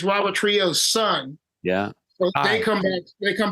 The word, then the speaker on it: Trujillo: Yeah, is that Trujillo?